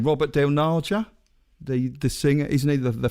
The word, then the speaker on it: Robert Del Naja: Robert Del Naja, the singer, isn't he the founder?